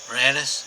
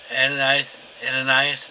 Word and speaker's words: Annas: But Annas, or Annas, depending on the way it's spelled, it can be spelled several different ways, had sent him, did the initial, he's the father-in-law, and did the initial interrogation.